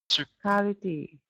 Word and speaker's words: practicality: Can you just practicality? Good. Is much better. Thank you. Yeah, the emphasis is on practicality.